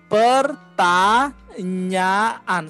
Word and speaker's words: pertanyaan: Jawablah pertanyaan. So like four syllables. Pertanyaan.